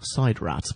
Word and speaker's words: SIDRAT: The space-time machines that the War Chief provides for the games are only named Sidrat once in Episode 7, when it's pronounced Sidrat.